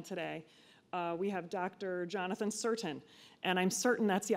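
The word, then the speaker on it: Cirtain: Jonathan certain and I'm certain that's how you pronounce his last name because I asked him at least four times after mispronouncing has made his name and calling him doctor Curtin several times before he graciously and politely corrected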